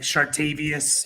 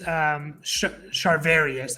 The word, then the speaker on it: Charvarius: Like Chartavius, I think is how you pronounce it. I thought it was like Tredavious. I don't know. Yeah, they have two guys. Charvarius, that's right.